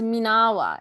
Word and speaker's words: MENAWA: And that's how you pronounce it. The whole time I'm like, is it MENAWA? So it's MENAWA.